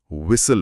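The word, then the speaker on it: whistle: इसे तो logically विसल पढ़ना चाहिए। है ना? लॉजिकली हां। पर बोलते टाइम एच और टी बिल्कुल साइलेंट रहते हैं। हम तो हम इसे विसल पढ़ते हैं।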